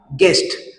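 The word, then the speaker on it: guest: silent होतो तर त्याच्यानंतर सेकंड एक्झाम्पल आहे गेस्ट आता गेस्ट या शब्दाचे वाचन करत असताना यातील य हा जो लेटर आहे तो सायलेंट होणार आहे कारण आपला नियम काय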